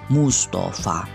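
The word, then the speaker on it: مصطفى: dari ketiga contoh diatas kata Mustofa cara membacanya hanya satu Musthofa tanpa ada harokat di akhirnya maka cara menentukan hukum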